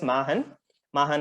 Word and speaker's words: Machenn: That is, Machen is to do, and the nth possibility possible, adding an end to it. So it is pronounced as Machen Innovations.